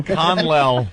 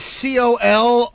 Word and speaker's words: colonel: Conlell. Conlell. I am Conlell. Wow. All right, well, that's your first strike. You want to spell that one, Jimmy? The word is C-O-L-O-N-E-L.